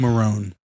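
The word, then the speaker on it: Marrone: Um, I feel like Doug Monroe is like kind of a steal for them. Doug Marone.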